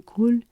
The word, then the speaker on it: cul: So, this is definitely where the pronunciation of a word can really matter, because you would want to pronounce that L, because pronouncing that L in cool, that makes it butt.